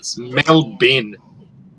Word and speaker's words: Melbourne: No, it's Melbourne. Melbourne. I mispronounce my last name half the time anyway.